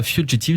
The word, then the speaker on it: Fugitive: Et oui, Ilana, Fugitive, donc prononcé à l'anglaise, donc de Georges Pénard, qui est enseignant d'art, scénariste et dessinateur et coloriste.